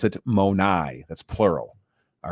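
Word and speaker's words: μοναί: used there in John 14 2 you would pronounce it monai that's plural all right so monai is how you would say it you know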